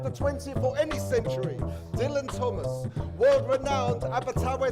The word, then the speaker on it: Dylan: that he called himself dylan that's right he pronounced it the english way wrote it big across